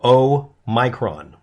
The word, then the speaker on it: omicron: variant is called b11529 called omicron or o micron omicron is the way you're supposed to pronounce it and of those 50